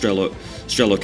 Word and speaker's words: Strelok: I sort of get caught up in this one because some people tell me it's pronounced Strelok, and I think that really is the right way to pronounce it, same way as Bradok.